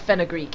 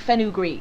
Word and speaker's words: fenugreek: picture of what a fenugreek is you'd literally pronounce it fenugreek it's fenugreek why is it called